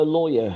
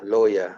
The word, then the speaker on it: lawyer: yeah low oh yeah lower right not lower lower yeah no lawyer good thank you mr williams